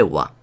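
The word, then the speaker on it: は: Pero diréis, esto es un ja. Muy bien, esto es un ja. Pero cuando actúa como partícula, y veremos más adelante lo que es una partícula, se lee wa.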